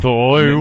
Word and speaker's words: Zathura: Well, Zathura.